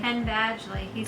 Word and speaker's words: Penn Badgley: Penn Badgley.